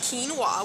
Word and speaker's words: quinoa: Okay, see, quinoa, pronounced quinoa, was a staple of the ancient Incas who called the mother grain.